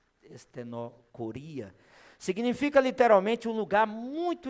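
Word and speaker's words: στενοχωρία: A palavra, né, que você pode ver aí na projeção que Paulo utiliza, seria a pronúncia estenocoria, significa literalmente um lugar muito estreito.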